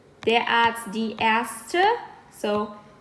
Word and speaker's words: Ärzte: So, der Arzt, die Ärzte. As you guys can hear, we go from A to E. That's the pronunciation. Der Arzt, die Ärzte.